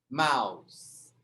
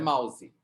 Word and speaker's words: mouse: Pronuncia só o P e pronuncia o P aqui na garganta. Sky. Mouse. Não é mouse.